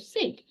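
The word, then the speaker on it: Sigyn: them um next Loki also had his wife sink um I may be pronouncing that wrong but it's spelled s i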